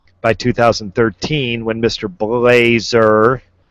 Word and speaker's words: Blazer: That's Mr. Blazer, by the way. Not I said Blaze. I think I said it right the first time.